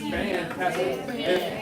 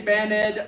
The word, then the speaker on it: banned: all my Spanish speakers banned past tense banned if cigarettes are banned like a music band one syllable if you say baned oh it'll I'll notice it you know sound a little weird me okay those y